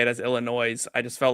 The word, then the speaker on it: Illinois: Great Lakes region of Illinois, Jake Parry. What's going on? I was doing really good until you added the S to Illinois.